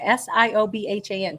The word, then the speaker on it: Siobhan: went to school with a girl named Siobhan s-i-o-b-h-a-n Siobhan nobody knew how to pronounce that she had to tell us it